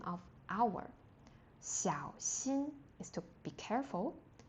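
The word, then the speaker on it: 小: And opposite is xiao. Xiao. And the X in Pinyin is x so x i a o xiao. The third tone is really low.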